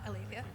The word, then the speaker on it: Alethea: Is it Alethea? She's on. What? Alethea? Yes, thank you.